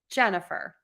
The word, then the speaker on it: Jennifer: word I'm going to stress syllable number one in my name Jennifer okay so that's a